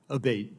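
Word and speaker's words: Abbate: to happen again yes ma'am ever uh Mr Abate and am I saying your name properly we've heard it pronounced three different ways today in the hearing aate Senator aate okay thank you um you had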